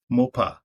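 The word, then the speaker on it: Moupaw: as eustace the next is m-o-u-p-a-w and i pronounce that as mopa and the next is m-o-u-s-s-a and space and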